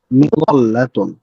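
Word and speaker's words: مظلة: আমরা যে বাংলায় বলে থাকি যে আহ, জল্লা গেল বা এরকম একটা শব্দ আছে যে হচ্ছে গোল্লাই গেল, যে শব্দটা বলি আর কি, এটা অনেকটা কাছাকাছি ওই রকম।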